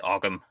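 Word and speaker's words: Ogham: r o u g the GH at the end you don't really pronounce it it's the same with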